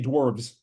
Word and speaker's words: dwarves: I like to say dwarves with a V.